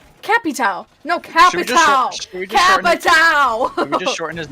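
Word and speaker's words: Capitão: cappy towel it is how it is like capitao cat pit cat town not cappy towel cappy towel no capitao just shorten his name to cappy i'm going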